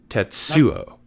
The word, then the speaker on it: Tetsuo: is in the hospital i think you mean tetsuo yeah ted's yeah that's right accent on the second syllable as we do yes that's that's right